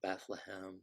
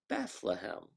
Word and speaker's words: Bethlehem: London Bethlehem Liverpool and how would an Englishman perdu pronounce Bethlehem well they might pronounce it that long Bethlehem that lump so you can see where the word bedlam Bethlehem came from and if you were